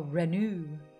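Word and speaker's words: Renoux: Renault. Yeah, Renault. Oh, okay, good. The X is silent. Oh, Renew. Renew.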